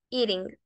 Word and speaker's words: eating: suena muy parecida a la pronunciación de la R en español. Como en el caso de la palabra palabra, pueden escuchar esa pronunciación de la R y pueden decir en lugar de eating, eating, con una R, eating.